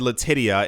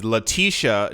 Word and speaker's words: Letitia: I got hurt I I pronounced her name incorrectly I said Letitia it is Leticia James uh has proposed a